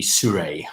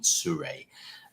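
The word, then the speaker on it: Seurat: know whether that's yeah you probably wouldn't pronounce the uh the t it would be suray i think if it was french so it would be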